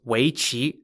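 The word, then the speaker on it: weiqi: the game was replaced with games such as weichi spelt w-e-i-q-i otherwise known as the game go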